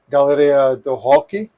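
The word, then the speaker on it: Galeria do Rock: to a place called galleria do hockey and hockey is rock because in brazil you don't pronounce the r as an r so that's just at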